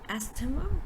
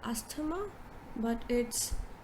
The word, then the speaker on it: asthma: very commonly mispronounced word a lot of people pronounce it as asthema or asthma now let's look at